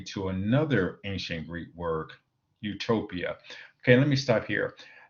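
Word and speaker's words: eutopia: another ancient Greek word Utopia okay let me stop here these words are spelled differently but in English pronounced the same so the First YouTube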